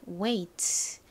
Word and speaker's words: weight: 웨이 같이 써 보실게요 먼저 왜 부분은 w e it 부분은 I 그리고 소리가 나지 않는 묵음 gh 트 소리 나는 티를 써 주시면 완성이죠 자 그럼 이제 지우고